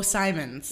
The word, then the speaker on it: Simon: S is it oh Simons yes so they always say Bridget Simmons it's Simon yes okay thank you for